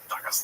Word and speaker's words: Dagestan: Now, it's actually pronounced Dagestan.